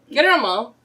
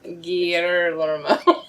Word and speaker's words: Guillermo: Guillermo. You have to pronounce every single letter. Guillermo.